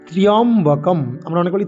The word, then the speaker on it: ত্র্যম্বকম: প্রথমে আছে ওম, আমরা নাভি থেকে অউময়ের উচ্চারণ করব। ওম, ঠিক। তারপরে শব্দ কি না ত্র্যম্বকম, আমরা অনেক বলি ত্রাম্বকম, এরকম নয়। তয়রফলা জফলা, ময়ে ও ক অনুস্বার। ত্র্যম্বকম ত্র্যম্বকং যজামহে, ত্র্যম্বকম, এরকম ত্র্যম্বকম ত্র্যম্বকম ত্র্যম্বকম যজামহে।